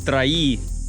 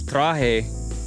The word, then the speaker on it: traje: I remember at my work, I would say, I said traí instead of traje for I brought for like a year.